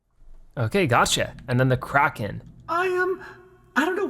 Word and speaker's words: Kraken: the thrill as it always been pronounced Kraken I've always said Kraken I think it's supposed to be cracking now we have the Phantom